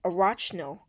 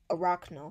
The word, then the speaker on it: Arachno: searched on Google and the way you pronounce this sound font is by saying a rocks no sound Fonz so because at first I was saying a rock no Safa which was wrong so uh yeah today